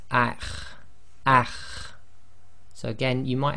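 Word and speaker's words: أَخْ: The next one is the letter kha, and it's one of the tafkhim letters, and you've got that slight grinding in the throat. So this will be pronounced as akh, akh.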